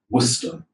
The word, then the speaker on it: Worcester: How many syllables? 2 syllables. Okay, Worcester.